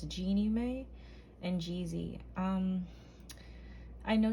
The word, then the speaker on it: Jeannie Mae: her name before because i was going to say jenna may but it's genie may and jeezy um i